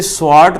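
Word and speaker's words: Swarts: यहाँ पर अब अगली रिएक्शन, इसे स्वार्ट रिएक्शन के नाम से पहचानते हैं। एक ज़माना था एस को साइलेंट कर देते थे, वार्ट रिएक्शन बोलते थे, इसको स्वार्ट रिएक्शन कहा जाता है।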